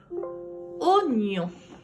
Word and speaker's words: oignon: Si vous étiez en classe, vous verrez que oignon est un petit coquin. Ça se dit oignon, mais ça s'écrit oignon. Mais on entend le son O.